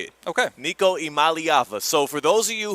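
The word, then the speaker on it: Iamaleava: Niko Imalyava.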